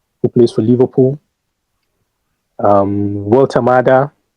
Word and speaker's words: Woltemade: Um Walter Mada. Walter Madi. Well the first pronunciation was correct. Walter Mada plays for Newcastle.